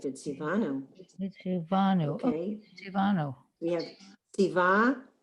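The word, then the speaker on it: מִצְוָה: So we have mitzvah. That's the word, right? Mitzvah. Now we have And they're showing that sari, that is a silent schwa. It's the end of the syllable. There's no sound.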